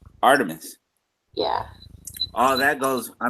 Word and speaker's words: Artemis: I'm not 100% sure if I'm pronouncing it right, but it's Artemas. Artemis.